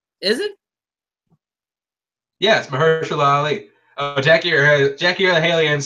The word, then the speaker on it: Mahershala: Mahershala. I said it right. Is it? Yes, Mahershala Ali.